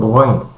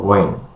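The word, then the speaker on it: غين: pengucapan huruf gin yaitu tidak mengalirkan huruf ghain. Karena huruf ghain itu adalah huruf rukhawah.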